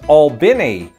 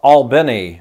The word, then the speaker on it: Albany: guy who says that Albany Georgia is pronounced Albini not Albany or Albany whatever I